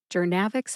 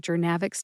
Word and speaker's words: Journavx: Gernavix has three syllables. That's jer like journey as in bringing jernavics to market was a long journey.